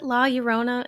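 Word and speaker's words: La Llorona: I joke that the ghost is drawn to the sink and the bathrooms because the ghost la is it laurona?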